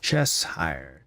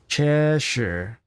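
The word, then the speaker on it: Cheshire: tea in chess chess chess hire chess hire I'm the worst guys I'm sorry pretty sure it's pronounced cheser ches chesher cheser chesher cat chesher cat chesher I can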